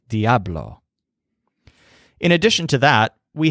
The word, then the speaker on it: Diablo: devil must be strong his word for this is Diablo so you have the stress on AB there Diablo in addition to that